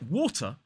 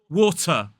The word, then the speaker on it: water: So in a word like water, the second syllable has a schwa in it as an isolated word. But I hear a lot of students stressing that second syllable or putting too much stress on it and making it more like water, water.